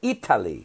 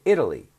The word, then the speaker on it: Italy: Italian Italian right now in English we don't say Eataly we say Italy we almost that T is almost like a D Italy have you ever